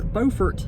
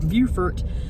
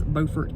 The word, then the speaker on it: Beaufort: refer to it as Beaufort National Cemetery however in South Carolina it is pronounced Beaufort as in the way beautiful is pronounced so that's the difference if you're in North Carolina it is Beaufort but in South Carolina